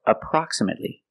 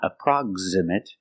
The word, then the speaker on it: approximate: This word, approximate or approximately. We see the X is between 2 vowels, but it's not approximate, it's approximate, and approximately.